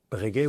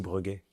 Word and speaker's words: Breguet: Bregaet ou Breguet ? Les deux. les facile. J'ai toujours on a toujours cette cette dualité entre la prononciation suisse breet qui est très très belle et la prononciation française.